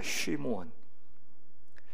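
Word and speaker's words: שִׁמְעוֹן: 시므온, 히브리어 발음하면 쉬무온입니다. 쉬무온.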